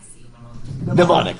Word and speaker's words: mnemonic: Mnemonic.